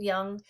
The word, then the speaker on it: Jung: Carl Jung was it's pronounced Jung.